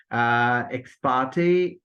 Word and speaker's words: ex parte: Ex parte, after ter sound, there comes a, which occurs in say, main, and wait.